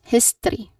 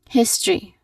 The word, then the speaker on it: history: The common mistake people say is that it is history. History sometimes shortening the syllables. um they do that they say history instead of history. So the tip provided is that you should say all three syllables here.